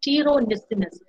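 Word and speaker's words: pteronyssinus: So, the house dust mites, particularly the species Dermatophagoides farinae, I forgot to italicize this, as well as Dermatophagoides tiro, P is silent, tiro nisinus.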